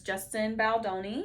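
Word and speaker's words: Justin Baldoni: some offscreen feuding between the two main characters Justin baloni is how you pronounce who also directed it also directed it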